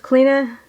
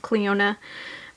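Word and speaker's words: Clionadh: bunch of my single shadows uh i have cleena cosmetics i know some people say it's pronounced cleona but my sister-in-law's name clena so that's how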